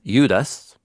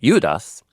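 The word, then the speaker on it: Ἰούδας: Um, so first things first, Jude in Greek, it's Udus. It's actually Judas. It's spelled exactly the same way as the character in the Gospels that's one of Jesus's disciples named Judas. But the Greek name Udas is the Greekified version of the Hebrew name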